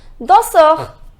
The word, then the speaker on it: danseur: The pronunciation is danseur.